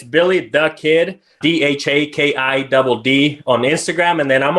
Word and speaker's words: DhaKidd: So I am at Billy the Kidd, and it's DhaKidd. It's funny. People ask me, hey, how to pronounce it? I think we were talking about that before. And it's like, it's just the kid.